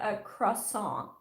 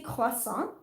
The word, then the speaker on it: croissant: how to pronounce it the stupid silent t is there after a yeah and i think actually if you said a cross song they would get it too like if you just didn't say the t but if you actually pronounce the r correctly like if you say klosson they're like the what uh the t is silent and french but in english canada